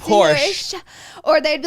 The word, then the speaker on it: Porsche: So Porsche is actually pronounced Porsha.